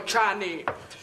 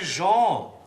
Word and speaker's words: Jean: Jetzt sagen Sie doch nicht immer Gianni zu mir. Ich heiße Jean. Und wie spricht man das aus? Ganz einfach, Nase zuhalten und Jean.